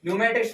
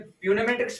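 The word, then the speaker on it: pneumatics: जिसमें हमारे क्या है न्यूमेटिक्स पढ़ रहे हैं हम, इसमें प्यूनेमेटिक्स पढ़ रहे हैं, न्यूमेटिक्स पढ़ रहे हैं ना, तो जो हमारे इसमें पी है वो क्या आ रहा साइलेंट आ रहा है, क्या आ रहा साइलेंट।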